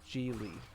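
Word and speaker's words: Gigli: jennifer lopez movie and it's called g lee it's but it's spelled g-i-g-l i think and it's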